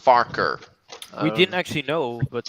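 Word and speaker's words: Farquhar: hello phineas it's renaeus to you was actually pronounced farker we didn't actually know but thanks so unlucky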